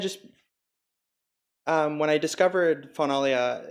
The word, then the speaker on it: Faunalia: silly little book here finale finale there's a couple different ways to pronounce it the big thing is the Fawn right so like Jimmy